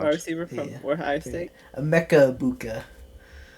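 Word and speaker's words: Emeka Egbuka: Emeka Ibuka. Emeka Ibuka.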